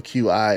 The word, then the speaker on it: qi: tainted by evil qi if you didn't know qi is pronounced qi other opponent and task wait you there pvp with different battlegrounds what do we know about pvp and i could be wrong qi could also be key but i think it's